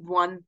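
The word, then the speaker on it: one: जैसे कि वन, अ 1 rupee note, अभी कैसी आवाज आ रही है वन को प्रोनाउंस करने में, वो की आवाज आ रही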